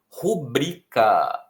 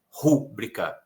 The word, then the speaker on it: rubrica: E a pronúncia correta é rubrica, não é rúbrica. Rubrica, ok? Vou fazer a minha rubrica nessa página. Então não tem que ter acento. Se fosse rúbrica, teria, porque seria proparoxítona, mas não é.